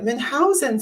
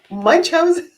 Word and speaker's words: Munchausen: Oh yes, that's I believe that that is a German name, so that's why I pronounce it as Munchausen.